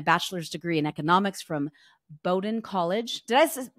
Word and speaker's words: Bowdoin: She has a master's degree in education policy from Harvard University and a bachelor's degree in economics from Bowdoin College. Did I pronounce that right?